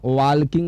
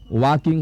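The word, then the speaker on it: walking: डब्ल्यू ए एल के आई एन जी वाकिंग इसका उच्चारण वाल्किंग नहीं होता है। वाकिंग होता है।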